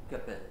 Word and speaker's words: Capel: Bloom is fine, and how, Capel, or how do you pronounce the next person? Capel, or? Capel. Capel, okay.